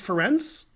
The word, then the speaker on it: Ferenc: Ferenc pronounced Ferenc with TS, the C.